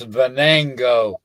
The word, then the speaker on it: Venango: Veno near Forest County it's pronounced Venango Bango know I know